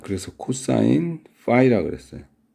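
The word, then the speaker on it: φ: 이거 읽을 때는 파이라고 읽어요. 파이. 그리스 사람은 피라 그러고. 아니 그리스어인데 왜 그리스 사람이 하는 발음을 안 따라하냐? 그러게. 근데 대부분의 사람들이 다 파이로 잘못 발음하고 있어서 그냥 그게 굳어졌어요. 그래서 국제적인 만남에서는 그리스 사람들도 억지로 틀린 줄 알지만 파이라고 발음을 할 것도 같은데 내가 본 그리스 사람은 피라 그러더라고.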